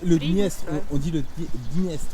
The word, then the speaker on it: Dniestr: On prononce le D quand même. Oui, D'accord, ouais. le Dniestre. D'accord. C'est la spécificité de la langue russe. Dniestre. Dniestre. Donc c'est Dniestre. D qui ne se prononce pas presque, mais D'accord. on a pas le son, mais un tout petit peu de son.